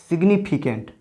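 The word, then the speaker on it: significant: लेकिन इस वर्ड में देखिए, इस वर्ड में जी का उच्चारण किया जा रहा है। जैसे सिग्निफिकेंट, ये है सिग्निफिकेंट का मतलब होता है महत्वपूर्ण।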